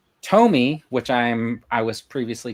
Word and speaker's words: Tomy: Tomy, which I'm I was previously told is the proper way to pronounce.